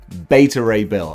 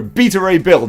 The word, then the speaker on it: Beta Ray Bill: in my head beta not beta not better beta ray bill i think we've all decided there's a collective community right that's how i'm pronouncing it okay if that's not right that's